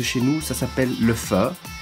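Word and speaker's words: phở: nous ça s'appelle le FE ça sécrit pH o ça ne se prononce pas po ni faux fa donc au personnees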